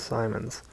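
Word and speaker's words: Symonds: while fending off Jeff rhymes with diamond Simons was it a great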